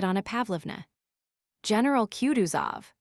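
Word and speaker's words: Kutuzov: General Cuduzov said Bulkanssky speaking French and stressing the last syllable of the general's name like a Frenchman has been pleased to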